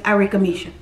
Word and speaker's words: Arickamisha: and my name is irika misha spelt with the name pronounced i rika misha ah arigamish all right